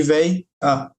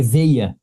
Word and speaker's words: veia: Não é véia que está escrito ali, tá? É veia.